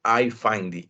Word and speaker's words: iFindy: Recuerden, se llaman iFindy. Se escribe I-F-I-N-D-Y. Yo ya se los voy a enviar, ahorita les muestro. iFind, como buscar.